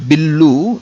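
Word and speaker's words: బిల్లు: So bill means in Telugu we say, we use English word only, but we add oo sound at the end. Bill becomes billu in Telugu, but if you want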